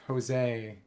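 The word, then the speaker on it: Josée: training from, Eivor, Simp, Jose. I think that's how that's pronounced. J-O-S accent E-E. Except it's not like Spanish male John, it's short for Josephine or whatever.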